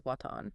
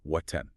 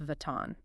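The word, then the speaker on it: وطن: In Dari, the letter wa is strictly and exclusively pronounced as a bilabial W where both lips come together. So the word for homeland or nation is watan. Very crisp, very deliberate W, watan.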